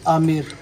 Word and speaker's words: आमेर: यह है विलेज आमिर, ठीक है, नौकरने में। वैसे अम्बिर बोलते हैं, बी साइलेंट है जब बोलते हैं ना।